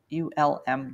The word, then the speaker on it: Ulm: week also in um om Germany I'm not pronouncing that right it's ULM ULM Germany and that's where they they have a